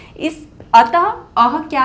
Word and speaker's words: अतः: एक और देखिए, अतः, अतः विसर्ग की जगह पे हम किसका उच्चारण कर रहे हैं, ह व्यंजन का उच्चारण कर रहे हैं, अतः।